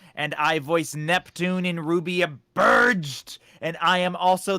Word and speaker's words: RWBY: the only person able to pronounce the name rubik properly unlike this heathen above me it's raw wubby no it's ruby we've been over this